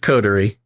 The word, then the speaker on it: coterie: Yeah, it's just coterie. I know. It seems like it should have some other special pronunciation, but it is just coterie.